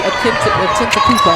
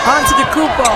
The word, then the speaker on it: Antetokounmpo: Atentakupo. I said it right. Yes. You almost got it. Oh. Giannis Antetokounmpo.